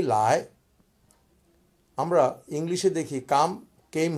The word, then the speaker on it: 来: বলি নি মানে তুমি লায় যখন বলি এটা আমি বলি সেকেন্ড টোনে লায় মানে কাম লায় এটা একটি ভার্ব অতএব নি লায় ঘটনাটা হয়ে গেল সাবজেক্ট এবং ভার্ব তুমি আসো নি লায় আমরা ইংলিশে দেখি কাম